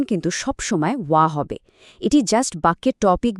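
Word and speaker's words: は: বাক্যে ব্যবহৃত হা পার আর্টিকেলটির উচ্চারণ কিন্তু সবসময় ওয়া হবে।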